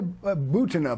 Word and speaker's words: Butina: I mean, Maria Butina, by the way, is how it's pronounced, Thank you.